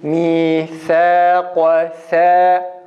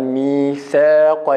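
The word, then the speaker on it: ميثاقا: Şu şekil mîthâqa olmaz. İnfitah sıfatı var bir de. İnfitah sıfatına dedik dili üst damağdan tamamen koparıyoruz, açıyoruz. Dil aşağı inince tam dil ile üst damağın arası açılmış olur ve imaleye de dikkat ederek imale yapmadan mîthâqa yani esreye meyil ettirmeden tam a şekliyle mîthâqa.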